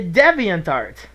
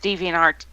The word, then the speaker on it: DeviantArt: you get all sassy I pronounce the debian tart okay it's always been pronounced deviantART Dumbo indeed and I'm